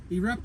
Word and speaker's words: eRapta: I'm going to brutally the name it's erea I believe is the name I said it wrong in the last one but erea is the company um as you can